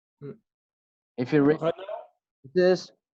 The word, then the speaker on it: Renault: I don't pronounce the N with run. I pronounce it for now.